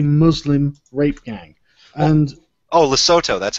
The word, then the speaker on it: Lesotho: And oh, Lesotho, that's how you pronounce it.